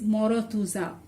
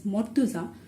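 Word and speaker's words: মর্তুজা: So yeah, someone can say that I will say this is morotuza. So to avoid this confusion, to make it sure that this is actually not morotuza, this is mortuza, what we do, we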